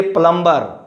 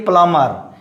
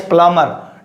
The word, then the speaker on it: plumber: So don't say from today plumber, say plumber. Here is plumber, like this, okay, plumber, okay, pronunciation is plumber, don't say plumber.